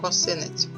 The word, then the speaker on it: косинець: D що таке косинець наголос падає на другий склад косинець це такий інструмент геометричний